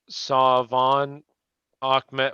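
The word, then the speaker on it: Salvon Ahmed: Salvin Ahmed is pronounced Savon Ahmed.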